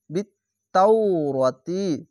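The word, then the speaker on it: بالتوراة: খাজবা র, তাজের তি, বিত্তাওরাতি, তাও, ওয়াওকে উচ্চারণ করবেন। কেন? তা এরকম পড়ে নাই। তাও যাবার পাশে ওয়াও সাকিন থাকলে অনেক সবাই এই শব্দটি ছেড়ে দেয়, তার জন্য আমি বানান করে আপনাদেরকে বলে দিলাম।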